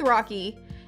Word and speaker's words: Rochie: we came up with rocky it is spelled r-o-c-h-i-e i know that's like people but rochi rachie rushy i like weird spellings